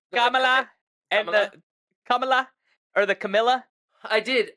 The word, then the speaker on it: Kamala: do you say it you say it Kamala Kamala I say Kamala Kamala Harris because it's k a m a l a Kamala kamla camea whatever yeah I mean no